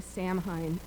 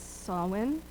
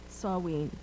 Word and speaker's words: Samhain: know that we are all tempted to say samine the GIC pron pronunciation is sawin the Druid is saen and here in the US we say pumpkin